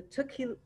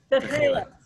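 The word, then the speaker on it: תכלת: He was talking about the tukil, help me with that pronunciation, Rabbi. It's Techelet.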